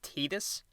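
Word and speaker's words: Tidus: the story of Titus Titus you serious it's pronounced Titus whatever I'm calling him Titus a star Blitzball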